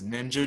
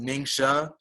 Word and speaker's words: Ningxia: might hear some people refer to it as ninja juice it's actually pronounced Ningxia but you'll feel so good from taking it